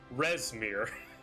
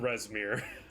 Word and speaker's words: Resmir: to all of you, it's Resmir. It has always been Resmir.